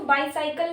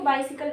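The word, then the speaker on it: bicycle: बाइसिकल, इसको बाईसाइकिल नहीं पढ़ते, इसको बाइसिकल बोलते हैं, ठीक है।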